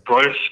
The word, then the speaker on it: Proyas: How do you pronounce his last name? Alex Proyas. Proyas. Proyas?